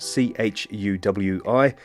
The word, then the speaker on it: Chuwi: It is spelt C-H-U-W-I. I think it's pronounced Chuwi. And before we even start,